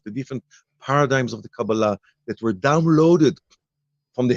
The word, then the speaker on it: Kabbalah: just the title but even the pronunciation uh we rather use the Kabbalah the Hebrew version of the pronunciation which is you know kabbalah sounds very American that's right okay yeah